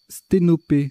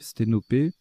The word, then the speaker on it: sténopé: Sténopé, alors c'est un nom commun, hein, ça s'écrit, ça se prononce P à la fin, enfin et à la fin, mais c'est ni un verbe ni un adjectif. Sténopé, ça fait 83 en